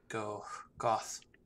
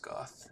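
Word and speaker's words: Gough: So we learn about Hawkeye Goth. I think his name's supposed to be Go, but he's pronounced Goth in the English.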